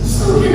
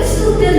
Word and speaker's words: student: sebuah FSI seorang murid student or student student student kalau belajar bacanya baru studi ya studi itu bacakanya studi kalau murid student bukan studen kan bisa dibaca Ak Kalau studen ya B salah nah oke terus bisal